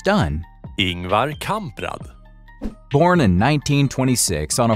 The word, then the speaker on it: Ingvar Kamprad: Ingvar Kamprad.